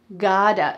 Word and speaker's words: gotta: Notice the pronunciation here, the T, does it sound like a T? "I gotta, gotta." Nope. Instead, it sounds like a D, god-a. This is one of the key features of American English pronunciation.